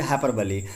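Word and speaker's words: hyperbole: देखिए हाइपरबली को अलग अलग लोग प्रोनाउंसिएशन अलग अलग तरीके से करते हैं। इसका शुद्ध प्रोनाउंसिएशन हम करेंगे हाइपरबली।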